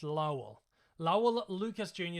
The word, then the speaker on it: Lowell: Now, I've pronounced this wrong in the past, and I believe I pronounced it Lowell last time. I believe it's Lowell.